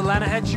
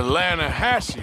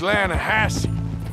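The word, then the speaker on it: Lannahassee: The other day, I rode down to the Lanna-hass-e River. I caught some beautiful steelhead trout. You mean the Lanna-hass-e River? No. The Lanna-hass-e. It runs right near here. Yeah, but it's pronounced Lanna-hass-e.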